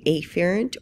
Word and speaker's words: afferent: what we call a afferent or sensory division, and a efferent, and I'll just be really pronouncing those E's and A's so it's clear. So efferent, even though we would say efferent, and this is also called our motor division.